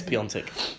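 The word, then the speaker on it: Piątek: on Giroud, Higuain versus Piatek. You mean Piontek? Is it Piontek? It is Piontek. But there's no N. No, there is an accent on the A which makes it.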